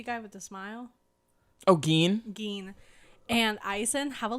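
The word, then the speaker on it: Gin: And then, like, Giden, is that how you say his name? Who? The creepy guy with the smile? Oh, Geen.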